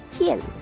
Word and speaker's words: Qin: Negara ini muncul dari negara Qin, diucapkan Qin, yang menjadi asal nama Tiongkok karena merupakan negara paling barat dan menjadi tujuan utama para pedagang barat.